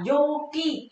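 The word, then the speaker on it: 陽気: Chữ dương đi với chữ khí đọc là Yuki.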